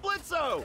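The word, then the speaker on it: Blitzø: you already know how Blitz is pulling up how you doing yeah I'm fine I just want to go hey that sounds like blitzo the O is silent hey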